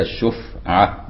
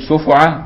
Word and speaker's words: شفعة: قوله وهي أي الشفعة، وقوله بسكون الفاء زي ما بننطق كده الشفعة بسكون الفاء أي مع ضم الشين المعجمة. قوله وبعض الفقهاء يضمها الشفعة بيضم يعني الفاء أي الفاء، فيقول شفعة بضمتين، لكن السكون أفصح، بل غلط من حركها، والمراد أن بعض الفقهاء